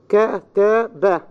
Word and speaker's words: كتب: However, words of two syllables, two or three syllables, take primary stress on the first syllable. I say أنا, أنا, two syllables. أبدا, two syllables. كتب, three syllables.